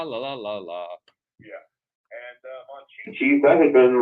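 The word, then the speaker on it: Monchhichi: Yeah, Mon-Chi-Chi's.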